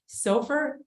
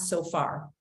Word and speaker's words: SOFR: you're gonna remember it Sofer is pronounced like gopher and it's not soar meaning I've heard that